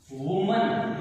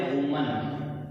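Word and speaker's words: women: इसका उच्चारण होता है वुमन, इसको कहते हैं अपन वुमन। और जब ये प्लूरल बनता है तो इसका जो प्रोनाउंसिएशन है वो होगा विमेन, विमेन।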